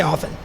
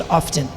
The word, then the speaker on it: often: like open what no there's a t in there it's right there let me pronounce the